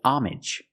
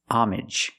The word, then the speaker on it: homage: word has two pronunciations if you see it after the word pay usually it's pay homage where the H is silent and the AG is pronounced normally like message and package homage you pay homage to